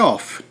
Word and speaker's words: off: Pessoal, a pronúncia desse cara aqui é of, como se fosse ovo, tá? Of, esse é off. Dois F's é off. Um F só é of.